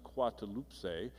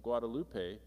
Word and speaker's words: Guadalupe: Coatlaxupe, whatever, I can't pronounce it, which is pronounced Guadalupe, and sounds remarkably like the Spanish word Guadalupe.